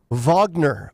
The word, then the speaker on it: Wagner: this Rebellion by the Vagner militia I believe it's spelled Wagner but pronounced like it's a v instead of a w being perhaps the most